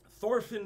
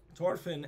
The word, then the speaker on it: Thorfinn: At this time, Thorfinn the Mighty. They don't pronounce the H.